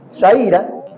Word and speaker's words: Zaira: de Luis pero Zaira Zaira Zaira Zaira no es Zaira Ah entonces por ahí lo han estado pronunciando mal ya saben saira nos dice que eh